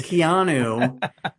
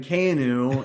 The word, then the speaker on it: Keanu: name properly because you I always thought it was Keanu. It's It is Keanu. And in the song I'm going Kanu.